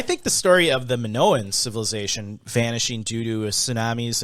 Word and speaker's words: Minoan: same vein the the story of the minoa minoan civilization can you look that up and see if we've been saying it wrong minoan minoan m-i-n-o-a-n because i'm like oh for 30